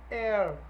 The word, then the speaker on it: heir: Em Machado de Assis, Quincas Borda, Rubião is an heir. An heir, is an heir. Então eu tenho is, o heir aí, o H não é pronunciado, então é an, beleza?